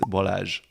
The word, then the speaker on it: Balázs: Hungarian dog breed, and the correct pronunciation is vizsla. Z & S together in Hungarian is "zsé", just like in my name which is Balázs.